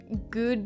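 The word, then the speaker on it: Gewd: It is Good Days, G-E-W-D. So like good, but spelled like gued.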